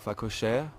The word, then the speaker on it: phacochère: The warthog that we saw on would be your phacochère, which you spell P-H-A-C-O-C-H-E-R-E.